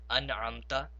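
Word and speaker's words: أنعمت: We have to pronounce the Nun Sakin very clearly. Therefore, we say An'amta, An'amta.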